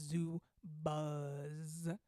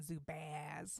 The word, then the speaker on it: Zubaz: it's pronounce it correctly it's zoo buzz not zupaz like oh my god sound like you're from St.